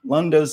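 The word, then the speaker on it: Londeix: classical saxophonist john marie lundes and uh in bordeaux france now londos is pronounced uh l-o-n-d-e-i-x and uh so you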